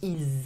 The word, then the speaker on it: ils: would pronounce the final S if the verb that follows starts with a vowel, like ils aiment.